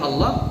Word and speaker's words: Allah: Kalau waktu saya di Mekah dengan Abu Ya Ahmad, baca Allahnya dipanjangkan Ibu. Jadi lafaz Allah niku sampai nafas habis. Allah, Allah, begitu terus sampai akhirnya kita merasa dalam hati itu, aduh kayak mau nangis Bapak Ibu sekalian.